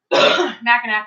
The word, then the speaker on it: Mackinac: Sty says he loves Mac and You know, Mackinac or Mackinac, Mackinac. I like saying Mackinac, but it's actually pronounced Mackinac, yeah.